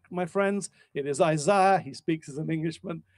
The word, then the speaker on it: Isaiah: named after isaiah and let's just get the pronunciation right my friends it is isaiah he speaks as an englishman all right but